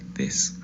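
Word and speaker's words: です: dos letras se pronunciarían desu, ¿verdad? Por lo que ya sabemos, pero en realidad no vamos a pronunciar la última u, sino vamos a pronunciar des.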